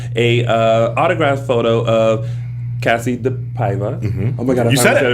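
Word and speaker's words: DePaiva: We have a prize pack, which consists of a autographed photo of Cassie the Paiva.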